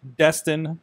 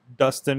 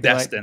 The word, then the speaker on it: Destin: Twitter, I really need to start Destin, not Dustin or anything. Destin, like with D-E.